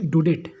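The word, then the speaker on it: Daudet: इसका राइटर का नाम है अल्फोंस डुडेट। प्रोनाउंसिएशन डाउडेट बहुत बच्चा पढ़ता है, डाउडेट नहीं होता है, डुडेट, ठीक है, इनका प्रोनाउंसिएशन है।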